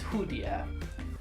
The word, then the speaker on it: 蝴蝶: how to say the word butterfly, which is hudier.